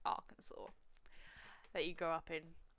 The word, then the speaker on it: Arkansas: he see I'm practically American I know it's pronounced Arkansas that you grow up in not a single